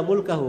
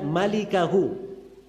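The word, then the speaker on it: مالكه: Itu bukan bacanya illa mulkahu. Memang mim lam kaf ha. Tapi bukan mulkahu bacanya. Bacanya illa malikahu.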